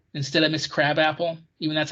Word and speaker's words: Krabappel: Krabappel from The Simpsons was his secretary.